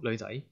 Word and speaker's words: 女: Or yeah, a girl, 女仔. Girl. So but if you say 女 in second tone, that means your daughter.